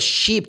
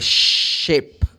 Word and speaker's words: ship: oh I'm going to take a sheep to go to tapara Island a sheep like no you're going to take a ship that's a big difference right once I was